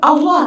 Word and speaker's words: Allah: And how do you say ya Allah? You fill your mouth, Allah. And where do you put your tongue? On top of your palette.